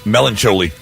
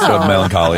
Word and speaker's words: melancholy: Uh this person says, uh I used to say melancholi. Melancholi. Melancholy.